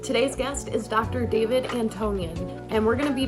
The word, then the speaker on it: Antonyan: So if you could, how do you pronounce it? Sure. Antonyan, Dr. Antonyan.